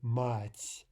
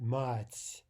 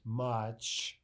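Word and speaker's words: мать: our ears fool us into thinking, for example, that this sound soft T is ch. That's the first thing many students hear. So they hear the word mать, and what they hear is mach, or something like that, and then that's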